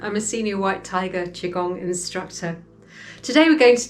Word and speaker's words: Qigong: So we pronounce it Qigong, Qigong.